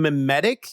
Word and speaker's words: mimetic: you mean mimetic? Is it mimetic? Yes, like memes. Okay, like a meme.